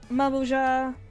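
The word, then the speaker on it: Mamool Ja: Mamulja.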